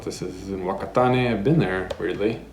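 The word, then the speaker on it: Whakatāne: This is in Wakatane. I've been there, weirdly. I think it's pronounced Fakatane.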